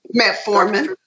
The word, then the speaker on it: metformin: side effects and metaphor man how do you pronounce that correctly metformin metaphor man specifically I was leading into mr.